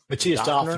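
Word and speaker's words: Mathias Döpfner: out, Politico was run by, how do you pronounce his name? Matthias Matthias Döpfner, Döpfner.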